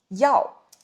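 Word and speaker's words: 药: but it's not, so pay attention to the difference between yi and yao. The pronunciation is like this, fourth tone.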